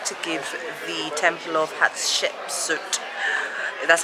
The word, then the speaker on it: Hatshepsut: kings we've decided to give the temple of hatshepsut that's how you pronounce it a miss because honestly we're just